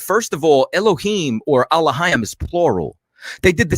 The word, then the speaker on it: Elohim: Nor curse the ruler of thy people, meaning the judges were called Allahayim, which some people pronounce as Elohim.